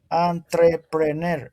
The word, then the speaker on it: entrepreneur: entrepreneur entrepreneur but but the the pronunciation entrepreneur entrep because it's this word is from French.